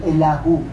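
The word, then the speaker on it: אליהו: Ang Hebrew name niya po ay pinapronounce na Elahu.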